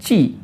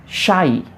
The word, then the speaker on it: ची: कुछ लोग इसको बोलेंगे ची, कुछ लोग बोलेंगे छी। तो मतलब एन्जॉय कीजिए आप डिफरेंस, जो आपको पसंद हो आप वो बोल सकते हैं। वैसे इसका जो प्रॉपर प्रोनाउंसिएशन है, जहाँ तक मैंने गूगल पे चेक किया है, वो है शाई, श जैसा प्रोनाउंस करते हैं इसको, शाई।